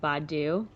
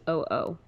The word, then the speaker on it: Badoo: And kind of a he also created Badu, which I've never used. Have you? no, Yeah, but it's Badoo.